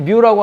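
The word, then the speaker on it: μ: 뮤 값이 어떻고 저건 뮤라고 읽습니다. 우리가 보통 뒤에다가 M을 갖다 붙여서 마이크로미터 이렇게 이야기를 할 때는 접두사로서 마이크로라고 읽지만은 뭐라 그럴까? 저 이제 접두사로서 저렇게 이제 읽을 때는 K는 카파라고 읽고요. 저 뮤는 그 다음 거는 이제 뮤 이렇게 이제 읽어요.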